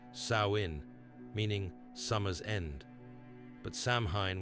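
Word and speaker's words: Samhain: They called this night Samhine, pronounced sain, meaning summer's end.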